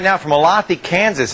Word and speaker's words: Olathe: On the phone right now from Olathe, Kansas. Is that how you say it? Olathe? It's Olathe.